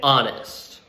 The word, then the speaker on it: honest: or home and then three more examples with a silent h so with the vowel sound our honor and honest now a few examples